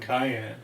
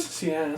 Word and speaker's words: cyan: This internet says it's yellow, magenta, and cayenne. But cayenne is blue. Which color? Cayenne. Is that not how you pronounce it? Cyan. Cyan? Cyan. No, that's not how you pronounce cyan.